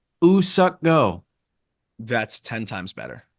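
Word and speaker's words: Woo-suk Go: We've been saying Woo Suck Go's name wrong. Mm, It's not Woo. It's Ooh. The W is silent. Ooh Suck Go.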